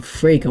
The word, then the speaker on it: Frege: It was a letter opener presumably owned by William Frege, which rhymes with Sega.